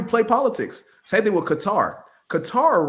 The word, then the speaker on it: Qatar: Or Qatar. Let's pronounce it as Qatar.